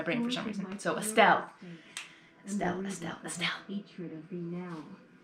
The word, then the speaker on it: Estelle: I do say it wrong because I kept saying Estella.